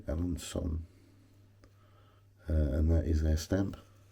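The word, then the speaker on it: Alençon: But that stamp there says Alanson, or Alancon, whichever way you want to pronounce it. But yeah, I would say Alanson, and that is their stamp.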